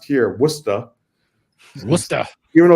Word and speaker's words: Worcester: years I've been in Worcester Massachusetts which is pronounced here wora wer even though it's spelled like Worchester like like in England it's it's wora and it's about it's right in the center